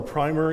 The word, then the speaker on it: primer: can use we have what's known as a primer or the English call it a primer in the America we call it a primer so you can use whichever pronunciation you care but it's basically a